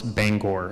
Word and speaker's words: Bangor: By the way, I did watch a YouTube video on how to pronounce Bangor, and that is how they say it.